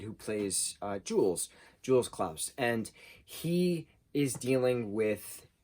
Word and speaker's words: Claus: in dutch it's pronounced klaus as most europeans pronounce it as klaus not clause but we as an